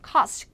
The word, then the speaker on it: cost: 자, 발음도 까다로운데 자, cost, 코가 아니고요. cost. cost는 저기고요. 해안이 아니죠.